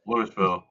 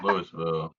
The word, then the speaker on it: Louisville: Louisville. I think the Tennessee is affecting you at this point now. Lewisville. It's spreading. It's spelled Lewisville. Yeah, but it's Louis. It's Louisville.